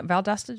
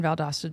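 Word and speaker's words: Valdosta: Austin wants to know about I hope I'm pronouncing this correctly valasta Georgia yeah valdasta Georgia uh probably going to rain in valdasta Georgia I do think that by the time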